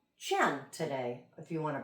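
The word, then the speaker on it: 乾: If we're pronouncing the I Ching, this symbol in Chinese, it's Qian today, if you want to practice that.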